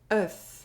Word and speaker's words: œuf: One or more letters can make a sound: “Œuf” (Egg) Four letters Two sounds [ɶ] [f] “Œuf” (Egg) “Quand” (When)